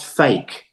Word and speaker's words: PHEIC: concern at the WHO, a PHEIC, which is pronounced fake, Andrew.